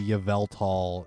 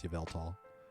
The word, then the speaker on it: Yveltal: i did get the yavel tall uh whatever i think it's yveltal i don't know why i'm trying to mispronounce it um i didn't get